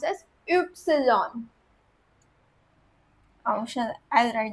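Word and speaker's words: Ypsilon: Upsilon. The letter itself is pronounced as, the Y letter is pronounced as Upsilon.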